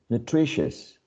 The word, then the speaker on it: nutritious: next one pretentious pretentious so this uh cluster of vowels right i owe you in all of these words is reduced to a schwa if you uh pay attention this last syllable is never stressed no one says ambishus or koshos so as this is an unstressed syllable is reduced to a weak syllable which is uh almost